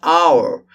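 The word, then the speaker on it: hour: Same thing. H silence. Our. Again with A. The pronunciation begins with A.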